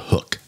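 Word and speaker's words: Huk: Again, it's spelled Hook, H-U-K.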